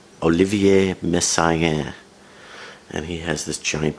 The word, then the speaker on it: Messiaen: I'm going to try to pronounce the French name right. Olivier Messiaen.